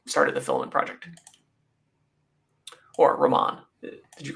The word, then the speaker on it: Romain: I definitely don't think it's Romaine. I've never heard him say it that way.